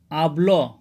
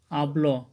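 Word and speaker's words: αυλή: পরে দেখেন র এসেছে এজন্য আব তারপর দেখেন আবল একটি শব্দ যেখানে আলফা এফসিলের পরে কিন্তু লাম দা এসেছে যার ফলে এখানে উচ্চারণ হচ্ছে আবল মানে আঙ্গিনা বা উঠান বন্ধুরা এখন আমরা আলোচনা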